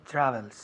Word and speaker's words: travels: Con la V, ¿cómo lo hacemos? Con los dientes encima del labio inferior.